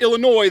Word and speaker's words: Illinois: __ ] Yankee so I don't say the word Illinois that often enough to know that the S is silent all the time I